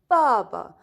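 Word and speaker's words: 爸爸: in chinese baba and notice guys here that i pronounced the first one was with the tone but the second one was with the zero tone this one was with the second tone okay so baba okay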